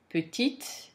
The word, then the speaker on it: petite: When the final consonant is followed by an E, you pronounce the consonant. So the consonant becomes sonore, basically, in French, in feminine form. Whereas the consonant is mute in masculine form. When a word ends in a consonant, you don't pronounce it.